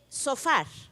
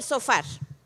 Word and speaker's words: shofar: hebrea la palabra trompeta me está hablando de sofar una palabra que se escribe sh o p h a r sofar que era el shofar esto es un sofá ese es un regalo